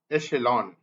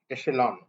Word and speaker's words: echelon: altercations go good so now we finish this Echelon Echelon CH though it is CH it should be pronounced as AA sha Echelon Echelon means means a rank rank or level